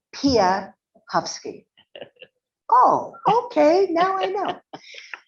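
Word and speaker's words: Piechowski: talked to him and asked him how to pronounce his name he said pahovsky or at least that's what I thought I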